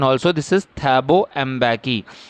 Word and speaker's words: Thabo Mbeki: Just listen the pronunciation also. This is Thabo Mbeki. Thabo Mbeki was sworn in as first deputy president.